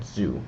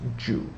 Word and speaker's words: Zhou: So those are the modern ways of writing Wu and Zhou, which I actually believe is pronounced Zhu.